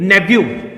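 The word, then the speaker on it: nephew: फिर देखिए आगे नेफ्यू नहीं है, ये नेव्यू। क्या बोलते हैं इसे दोस्तों? नेव्यू बोलते हैं, नेफ्यू नहीं, नेव्यू।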